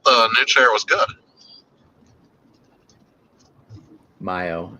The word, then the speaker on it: Mayo: Mayo is how it's pronounced. It's Okay. Mayo. Mio, Oh, he is Mayo.